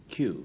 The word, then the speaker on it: Kew: Well, this is Kew, pronounced as Kew Gardens, or Kew for the Pictures.